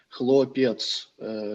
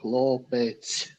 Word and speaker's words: хлопець: просто почув тільки що Єкатерина сказала хлопец це це російська вимова хлопець хлопець х хлопець хлопець хлопці будь ласка